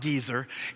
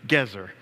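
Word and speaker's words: Gezer: and then finally get no not gizer gazer all right the word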